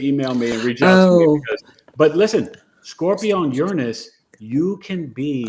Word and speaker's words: Uranus: and Uranus oh wow that's actually the correct pronunciation you guys they changed it it's Uranus now they're kind of Uranus